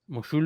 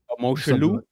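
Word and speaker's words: Mosholu: Mulu. I say Mulu. Yeah, that's what I said. It's Mashalu. I think it's Mashalu. Moshulu.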